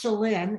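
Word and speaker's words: Chelynne: Well, it's pronounced Shalyn, and it's a completely made up name.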